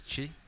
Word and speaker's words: Chi: you can call me Chi that's my how do you spell it um C hi I but there's really no h in my name because of the way it's pronounced they put an H I see I too